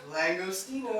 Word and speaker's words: langostino: today uh we're gonna be basically doing a langostino did i say that right jeff langostino i just said it right they had to